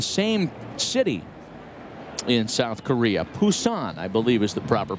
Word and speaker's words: Busan: Busan, I believe is the proper pronunciation.